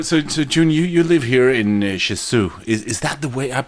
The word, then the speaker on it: Jeju-do: So Jun, you live here in Jeju. Is that the way? I've been a little bit curious how to pronounce the name of the island. Jeju? Jeju-do.